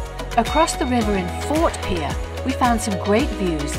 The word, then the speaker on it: Pierre: capital of South Dakota isn't pronounced Pierre as you might think it's actually Pierre whenever we go to